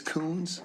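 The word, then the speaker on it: Kunz: His name is Coons. Spell that.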